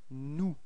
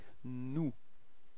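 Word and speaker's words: nous: of the plural it's new repeat no okay so you've got this final s but you don't pronounce it okay new mhm and then comes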